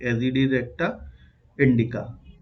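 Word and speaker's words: Azadirachta indica: एजेडी रेक्टा, spelling देख लेना कुछ गड़बड़ है, लेकिन यही प्रोनाउंसिएशन यही है, एजेडी रेक्टा इंडिका।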